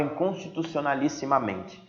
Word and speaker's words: inconstitucionalissimamente: pensar juntos a palavra inconstitucionalissimamente Qual é a sílaba mais forte entre na mente na mente na mente na mente Me então nós estamos gente de uma paroxítona volta aqui no ladinho